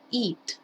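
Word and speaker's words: eat: eads no es edad se pronuncia it como si fuera una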